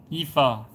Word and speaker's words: Aoife: Aoife? Sorry, I'm not pronouncing it right. Sorry about that. Ifa, got it.